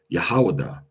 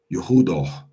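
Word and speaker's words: יהודה: to say Yahawah Yahawah but grammatically it would be Yehudo. Yehudo. Now, some people say, right? But most people say um putting the syllable on the second to the putting the emphasis on the second to the last uh second to the last syllable.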